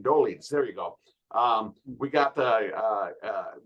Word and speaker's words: Dolidze: I can't pronounce his name. Dolidze.